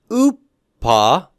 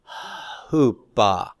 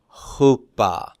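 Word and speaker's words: ὑπό: one that's a p so who it's not OA not OA but Hoopa Hoopa mhm very good how about this one how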